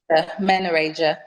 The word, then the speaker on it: menorrhagia: that you mentioned and help me with the pronunciation, the dysmenorrhea and what was the other one? The menorrhea? Menorrhagia.